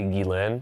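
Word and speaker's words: Ghislaine: I mean, just think about this is when Jelane Jizzlain Jane, how do I how do you pronounce? It's technically Guilain. Gilane.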